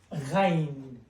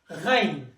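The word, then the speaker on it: غين: it, and it becomes ghain, which is the letter gha. It's exactly as the R in French language.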